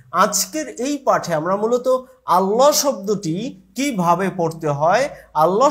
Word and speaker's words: আল্লাহ: লাম হচ্ছে পাতলা। কিন্তু ব্যতিক্রম হচ্ছে আল্লাহ। এই আল্লাহ শব্দের মাঝখানের যে লামটি রয়েছে এই লামটি হচ্ছে আমাদের ব্যতিক্রম। যেমন এই লামটি এখানে আমরা আল্লাহ বলতে পারছি না। এখানে হবে আল্লাহ। অধনি দিবে। সাধারণ লামের ক্ষেত্রে আধ্বনি দিবে। কিন্তু আল্লাহ শব্দের লামের ক্ষেত্রে অধ্বনি দিবে।